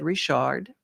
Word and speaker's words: Richard: It's spelled like Richard, but it's said Richard.